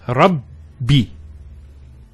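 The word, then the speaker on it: رَبِّ: The first ba takes a sukoon. And the second take say kasra. So it's Rabbi.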